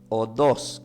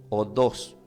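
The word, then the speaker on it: ὁδός: Del griego se pronuncia como odos, que tiene acento en la O, odos, que es igual a un modo de vida, senda, camino para llegar a Dios.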